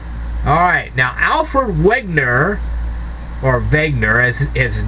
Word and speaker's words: Wegener: Alright, now Alfred Wegener, or Wegener as his name was actually pronounced, Alfred Wegener, although it starts with a W, also studied something that many people claim to see in deserts.